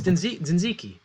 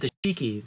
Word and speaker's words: tzatziki: It's tzatziki. I You can't can't- pronounce that. Yeah, but you said tashiki, which.